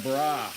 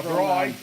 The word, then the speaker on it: braai: Inviting some friends over for a bra. A braai.